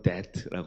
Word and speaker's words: debt: 네, 영어로는 debt라고 하죠. 네, 네, 비가 묵음입니다.